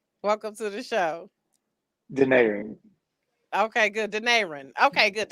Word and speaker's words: Denaron: got it in the Yeah, parentheses yeah, like Denaron. Is that right? Welcome to the show. Denaron.